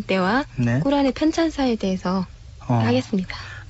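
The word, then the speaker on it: قرآن: 게시를 받게 된 때와 꾸란의 찬사에 대해서 하겠습니다 그 란이라고 하는 것 저희가 첫 시간에 그런 말씀드렸는데네 예 저희들은 란이라고 발음을 했었거든요 확실히 꾸란이 예 꾸란 아랍어 발음으로 란이라고 란이라고 발음을 해야 정확하군요네 아 무하맛께서 쿠란을 편찬하는음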